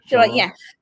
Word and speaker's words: Shyamalan: Night Shyamalan? Yeah. Shyamalan.